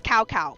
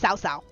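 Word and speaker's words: Cao: Warriors 3 and four pronounce it as cowcow but it's not. But it's Sao.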